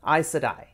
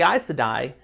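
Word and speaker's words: Aes Sedai: name yet all right these are isadai is that how you say it that's how i say it okay because you look at it and it doesn't sound like it looks a e s and then s-e-d-a-i so i sudden so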